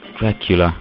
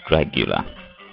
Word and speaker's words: Dracula: let's play kid drula Dracula on the Game Boy why do I keep pronouncing that as Dragula maybe I listen too much Rob Zombie right see